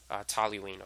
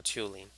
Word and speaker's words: toluene: on a benzene ring is called toluene or to lean I always that pronounce that wrong sometimes but it's one